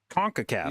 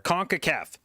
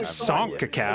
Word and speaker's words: CONCACAF: You don't pronounce it Oh, SONCACAF.